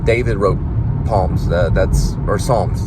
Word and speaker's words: Psalms: like it's like a palm david wrote palms that's or psalms psalms the way they say it but it's also sometimes pronounced palm and he stabbed it